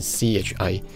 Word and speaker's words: ち: 听起来就比较接近 CHI，但各位当然要多听